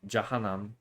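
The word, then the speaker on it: Jahannam: Um, but it is ja janam. That's how it's pronounced.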